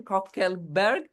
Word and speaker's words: Coeckelbergs: Copelberg. Did I Google? Okay. Is the proper Dutch pronunciation.